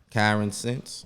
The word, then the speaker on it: Kyransense: it's um it's Karen Karen since yeah all right so basically like like common sense but with me oh okay but with